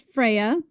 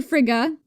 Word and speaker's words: Freya: So, one night the god Balder, son of the goddess Freya or Fria, there's many ways to pronounce this, had a bad dream that he was going to die.